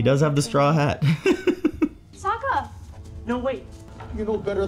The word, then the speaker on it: Sokka: kids in the woods my name's Saka rhymes with waka waka go you moving she looks